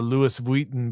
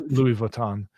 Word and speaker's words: Louis Vuitton: to buy a a Prada bag or a Lewis Vuitton bag, that's how you pronounce it, right? Yeah, I think so. Um, not sure. It's Louis Vuitton, but uh if you want to buy that